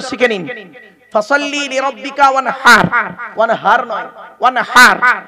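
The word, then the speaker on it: وانحر: ফাসাল্লি লিরাব্বিকা ওয়ানহার, ওয়ানহার নয়, ওয়ানহার। এই গলার ভেতর থেকে হে এটা উচ্চারণ করবেন।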